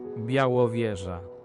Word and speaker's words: Białowieża: How do you pronounce this? Białowieża.